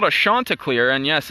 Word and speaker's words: Chanticleer: So it is the head of the league, umpires Denny Rotz, tuning in here, and he says the correct pronunciation is Chanticleer of the Coastal Carolina mascot.